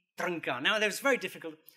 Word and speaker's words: Trnka: was hugely influenced by this guy here, Jiří Trnka. I'm actually here because I can pronounce his name properly. And you too can do this if you try. His name is Jiří Trnka.